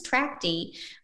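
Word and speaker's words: Trachte: to success for instance Tracy uh which is spelled t r a c h te is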